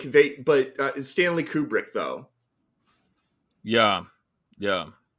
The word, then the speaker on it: Kubrick: Kubrick though yeah yeah Stanley kubri kubri is it kubric is that the kubri Kubrick okay I don't want to mispronounce it because I think the Flur have got me saying it wrong but yeah well I